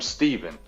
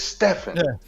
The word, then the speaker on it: Stephen: what else it is his name is spelled s e p he n why are we call him Stephen it's Stefan why we didn't call him